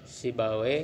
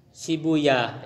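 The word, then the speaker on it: سيبويه: Ini kalau yang baca weh-weh itu para ahli bahasa Arab lebih senang membaca weh, sibawe, ya, rohawe. Berbeda dengan ahli hadis itu lebih suka membaca rohuya, Ishak bin rohuya. Kalau kita belajar hadis sanad-sanad itu ada itu. Ishak bin Rohuyah itu biasanya dibacanya pakai yah, uyah gitu ya. Iya, Rohuyah. Ya, Sibuya. Tapi kalau ahli bahasa lebih enaknya we gitu.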